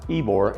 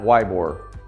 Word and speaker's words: Ybor: When you're in town, you really need to go down to Ebor and get some really good Cuban food. By the way, don't show your newness to Tampa. Ebor is pronounced Ebor, not Ybor.